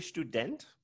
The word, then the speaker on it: Student: And notice the German ST at the beginning of a word or the beginning of a syllable is st. St, like a right, st. Right, so student.